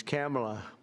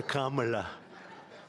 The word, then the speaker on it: Kamala: It's Cam, right? Cam as opposed to Com."